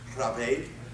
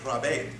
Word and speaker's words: raibéad: 1992, the Irish word, I think this is pronounced raibéad, R-A-I-B-E-A-D, is defined as a big hulking person. It is that word, raibéad, along with the slang